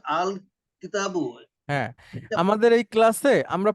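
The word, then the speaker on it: الكتابُ: এইখানে এটা উচ্চারণ করেন আল কিতাব না না পুরোটা পড়তে হবে পুরোটা আল কিতাবু হ্যাঁ আমাদের এই ক্লাসে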